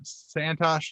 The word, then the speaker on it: Santosh: of cool uh tonight uh we've got uh santosh did i get your name pronounced right i should have asked that ahead